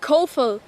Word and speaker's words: Kofel: It's called Kofel. Kofil. Kofil? Do I get that correct? Kofel. And how do you, that's spelled K...